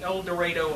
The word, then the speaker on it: El Dorado: Judge Leben is a graduate of the El Dorado High School. After graduating from the KU Law School, I did pronounce that correctly.